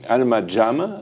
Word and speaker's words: Alma Jam: vous avez créé, donc d'Alma Jam, comment vous prononcez ? Alma Jam. Alma Jam.